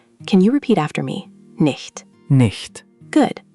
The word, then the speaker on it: nicht: Nicht. Nicht. Good. Try to make that ch sound like the H in huge or the ch in Bach. Let's try again. Nicht.